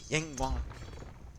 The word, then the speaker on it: Yinghua: I'm trying to get the Chinese pronunciation like Yinghua, Feng Xin. Like each syllable needs to be hammered down when you speak Chinese.